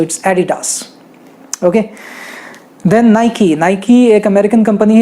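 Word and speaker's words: Nike: इट is very difficult to pronounce, कई सारे लोग इसे नाइक कह देते हैं, हमारे यहाँ तो सरनेम भी होता है नाइक, तो लेकिन इसका एक्चुअल प्रोनाउंसिएशन है नाइकी।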